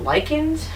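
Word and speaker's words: lichens: There could be biological components like you know those little I call them lychans. I've heard it pronounced that way. It's l i c h e ns.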